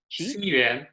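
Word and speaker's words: 西园: How do you pronounce X-I? Xiyuan, Xiyuan. Qi Yuan. Xiyuan. Xiyuan. Okay.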